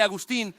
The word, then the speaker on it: Agustín: Y por cierto, así se pronuncia su nombre, Agustín.